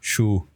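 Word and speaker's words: Schuh: so it makes sense it's like Shu Shu Shu in German is just Shu you almost did a spit I did almost I think German it's spelled sh h u e right uh but yeah it's just it's literally just Sho uh anyway put on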